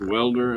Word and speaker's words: Walder: I I I heard it pronounced Welder.